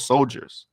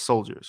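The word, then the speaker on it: Souldiers: a pixar game called soldiers right soldiers is spelled soul dyers spell s-o-u-l-d-i-e-r-s dyers but it's soldiers right this is a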